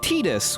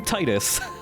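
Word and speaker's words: Tidus: spoken and so I learned that it's actually pronounced Titus which sounds bad so I'm gonna continue to call him Titus because that's a real name yes all the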